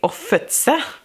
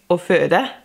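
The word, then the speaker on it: å føde: Like, to give birth, I always say "offutse," and I think it's "offøde."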